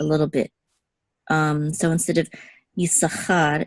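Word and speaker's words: יששכר: The way it's pronounced is Yisachar. So you kind of just hold it a little bit. Okay, this sound. So Yisachar, and the accent is on cha right here.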